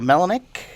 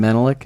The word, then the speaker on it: Menelik: So last year was the Melanic? Is that how you say Yeah, that the one? Menelik. Yeah, the Menelik.